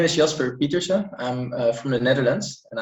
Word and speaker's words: Pieterse: 21 years old um so you should probably pronounce it and then um peterson as in jordan peterson i'm not sure if you know him but that's basically the english version of my last name so i'm 21